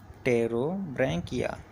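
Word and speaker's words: Pterobranchia: आपका जो ग्रुप है वह है रो बंकिया प साइलेंट होता है रो बंकिया क्वेश्चन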